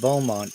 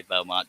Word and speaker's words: Beaumont: know how to say beaumont just saying yeah it's got to be french because that's bo yeah but in french you wouldn't pronounce that t my my last my